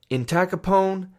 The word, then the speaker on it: entacapone: I think about the American gangster Al Capone when I try to remember these drugs and how to pronounce them. Entacapone and tolcapone.